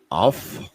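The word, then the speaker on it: אף: okay what is the hebrew word for anger off it sounds like o f f but that's the way it's pronounced in hebrew okay so what does it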